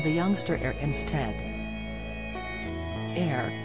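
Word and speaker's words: Aire: Air, which Kylie confirmed is pronounced like Air, translates to Lion of God in Hebrew.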